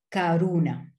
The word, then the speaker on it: Karuna: Et Karuna, le U de Karuna, c'est un U, je veux dire, mais on le prononce en français comme OU.